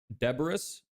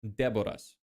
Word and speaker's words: Deboras: So, the way you pronounce it with an English pronunciation is Deborahs, but my name in my language is pronounced Deborahs.